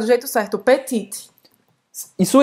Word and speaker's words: petit: Não é petite. É petit. Petit. Não é petite. Petit. Petit. Ou seja, faz a boca do O e fala E. Tem que fazer um bico. E. Petit. Petit. Não pronuncia tão bem esse T no final.